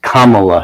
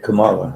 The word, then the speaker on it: Kamala: same well it's it's Kamala Harris the accents on the first syllable instead of Kamala yes and they know